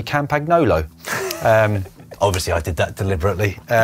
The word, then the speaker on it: Campagnolo: people to be able to almost perfectly say Campagnolo.